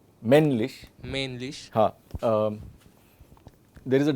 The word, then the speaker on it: männlich: Whenever there is a double consonant, then the vowel will be shortened.